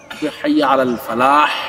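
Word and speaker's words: الفلاح: হাইয়া আলাস সালাহ এটা সোয়াদ, হাইয়া আলাল ফালাহ লাগতে যে হা উচ্চারণটা অনেকেরই হয় না, এই উচ্চারণটা ঠিক করতে হবে।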